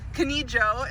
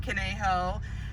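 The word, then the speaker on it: Conejo: pronounce the streets here the new joe kinijo instead of kaneho and instead of las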